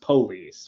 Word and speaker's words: police: the word is pronounced police with the emphasis on the first syllable the slang would be